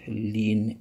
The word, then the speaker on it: ln: simply write as ln of x which is pronounced lean x so the l is for logarithm the